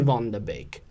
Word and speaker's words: Vanderbeek: a really good one it's spelt Vanderbeek but it's fun the big so Donnie Vonda baked your bun the Baker people